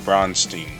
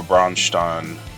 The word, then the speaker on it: Braunstein: the 17th century called brunstein or brunin depends on how you're going to pronounce it but I pronounce it bronstein susumi I don't have